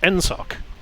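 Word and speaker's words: NSAWC: us navy aviation community pronounced nsoc because why would it be danced any other way that makes perfect sense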